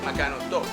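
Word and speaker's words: Magkano 'to: So what I've heard a lot of the locals say has been "Magkano to?" They kind of skip the I, and I guess that is some form of slang.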